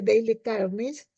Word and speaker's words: Dale Carnegie: de Dale carnegie se se este escribe Dale carnegie y se pronuncia Daily carnish que se llama Cómo